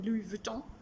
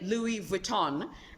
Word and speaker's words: Louis Vuitton: know i feel like it's just a pronunciation of the vuton at the end and and most people in english say louis vuitton and i understand why they pronounce the n because we're english speakers